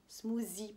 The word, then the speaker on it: smoothie: Donc, c'est un smoothie, bien sûr, avec le TH qu'on fait comme ça.